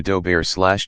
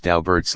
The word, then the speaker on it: Daubert: Bert's attorney reports that Daubert and his family do not affect the French pronunciation which would be sounded similar to doe Baer / - BR / rather they pronounce their family name in the same manner as Dalbert / dab right /